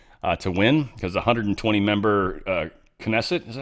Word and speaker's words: Knesset: win, because the 120-member Knesset, is that how you say that? I think it is. I think they pronounce the K.